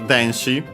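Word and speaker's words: 電子: Yeah, first we have denshi. On its own, let's check its accent. Okay, accent on the first syllable, so on the de.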